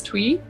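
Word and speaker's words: Tui: ruby i think her last name is twee is how you say it properly she's from new zealand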